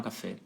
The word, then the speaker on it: café: uma vogal aberta F é uma vogal fechada só que a sílaba tônica fica no final então fica café Olha